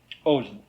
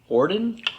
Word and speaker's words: Odin: Yeah, inspiration of Odin. It's good, yes. I'll give you Inspiration of who? Odin. Orden? Odin. Oben? Odin. Olin. You'll get it someday.